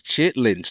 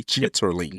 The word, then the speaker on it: chitterlings: Number one is chitlings. Chitterlings, for the people who want me to say it properly, chitterlings.